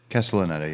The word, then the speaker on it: Castellaneta: Castellaneta, yeah.